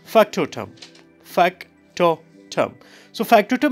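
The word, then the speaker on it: factotum: displayed it's f-a-c-t-o-t-u-m okay so can we just pronounce it okay okay try try try great so it's what it's Factor term Factor term so factor to me both of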